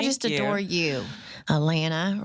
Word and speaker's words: Alana: Alana rhymes with banana.